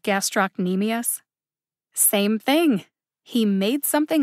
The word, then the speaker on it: gastrocnemius: make me laugh again gastroc nemesis he said instead of gastrocnemius same thing he made